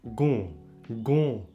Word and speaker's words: gon: Also there are nasal variants of both vowels, like a long O in gon. Gon means knee.